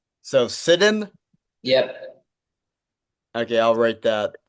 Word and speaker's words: Sidun: Real quick, just so I'm clear, what's the right pronunciation of your last name? in. So Sidun.